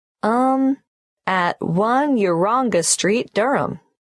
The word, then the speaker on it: Durham: at one uranga street durham how do you spell durham d-u-r-h-a-m course i should know that but it's just one of those names that sounds quite different from the way you spell it it is confusing i've